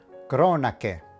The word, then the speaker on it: cronache: Tip number 3. When you see the letters C, H, and E together, it makes the hard sound of ke, like in the word kettle. So in our example here, we can pronounce this word cronache, which means chronicles.